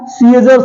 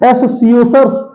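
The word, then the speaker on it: scissors: है मसल बोलते हैं सीजर्स सीजर्स क्या एस सीजर्स बोलते हैं एस सीओ सर्स एस सीओ सर्स नहीं बोलते इसे सीजर्स बोलते हैं सीजर्स इसमें सी क्या है सी साइलेंट है सी साइलेंट है ठीक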